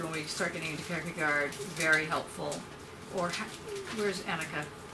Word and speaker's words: Kierkegaard: Clearly Kierkegaard, when we start getting into Kierkegaard, very helpful.